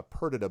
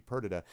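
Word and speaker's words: Perdita: pronounce whatever you want the shakespearean one pronounces it uh perdada but either way is fine um and it is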